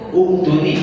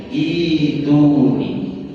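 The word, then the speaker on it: ائتوني: Ini pun secara kaidah yang tadi dibaca harusnya yang tadi dibaca tuni kan begitu ya. Namun ini dikecualikan. Ini cara membacanya jadi ituni. Ituni.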